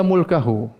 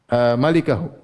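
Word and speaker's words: مالكه: Yang benar bacanya illa mulkahu. Yang benar bacanya malikahu.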